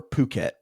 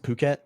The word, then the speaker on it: Phuket: Is it Phuket? Yeah. Just I just looked up pronunciation. Phuket.